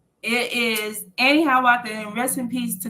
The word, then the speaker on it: AneHiawatha: I don't know if I was sure I was pronouncing it right. It is AneHiawatha, and rest in peace to Guns.